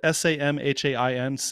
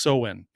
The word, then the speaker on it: Samhain: of of it's spelled s-a-m-h-a-i-n-s it looks like samhain but it's pronounced so-win so the ancient celtic